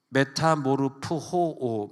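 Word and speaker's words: μεταμορφόω: 변화를 받아라를 보니까 메타모르프호오, 메타모르프호, 오에다가 강조점이 있어가지고 호로 발음하면 오에다가, 그래서 오미크론에다가 악센트가 있으니까 호, 그 다음에 오메가.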